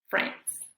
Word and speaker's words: friends: vamos a saber que en estas palabras la i no se pronuncia vamos a pretender que no está que no existe la vamos a ignorar bien y estas palabras son business Friends muy bien el día